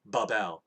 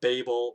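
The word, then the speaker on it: בבל: just its own sound so it's ba and then the b l would make a the well the second b has to imitate the first b so it's another b a and it has an out so it's babal right or babble right but basically it's not babel or well i guess babel would be um close right but it's like babel um or babal something like that but basically i break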